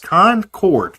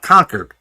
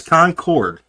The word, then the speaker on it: Concord: It is pronounced concord. There's a chord in that. It's not conquered. It's concord.